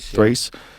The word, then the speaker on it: Thrace: reasserted control over how do you say that, Thrace? Thrace.